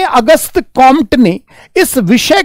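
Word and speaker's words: Comte: compatibility जो होता है फ़्रेंच भाषा में वो साइलेंट होता है परंतु हिंदी की किताबों में कामटे कामटे भी लिखा है कई बार यूपीएससी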